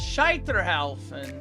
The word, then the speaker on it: Scheiterhaufen: Okay, so it's Scheiterhaufen, which means pyre.